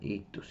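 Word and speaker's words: ΙΧΘΥΣ: En griego se pronuncian ictus, y ahorita vamos a ver qué significan cada una de estas letras.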